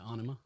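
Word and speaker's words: Ænima: i just you know is that how you pronounce that yeah anima yeah i even have that in the notes i just i always go with enema yeah like you say like enema like the thing you stick up your ass but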